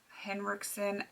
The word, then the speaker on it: Henriksen: have the old Hendrix Henriksen I always want to mispronounce it because I knew someone with the last name Hendrickson um Ola Henriksen primer